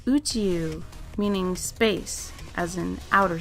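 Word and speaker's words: 宇宙: Now if you combine these two kanji, they pronounced Uchiu, meaning space, as in outer space.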